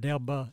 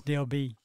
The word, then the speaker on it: Delba: there again, it's not Delba, it's Delby. Yeah, it is. It is. It's, You That's didn't good know to that? know. it's No. spelled it's spelled Delba, but it's Delby. always been called Delby.